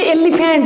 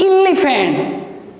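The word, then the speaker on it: elephant: जमती गोटे छोटिया कथा मुझे कहबी ना, दिस इज या आम छुआ बेल समस्ते पढ़ी एलिफेंट, एलिफेंट आमको शिखा जाइए, बट it's right pronunciation is इलिफेंट।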